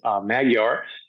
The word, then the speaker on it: Magyar: Daniel Magyar. Am I pronouncing that right?